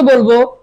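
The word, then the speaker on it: ب: দুই ঠোঁটের বিজা জায়গা থেকে আদায় হবে।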